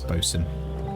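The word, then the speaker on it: boatswain: words where it's um it's spelled boat swaying but pronounce boson how about ship's surgeon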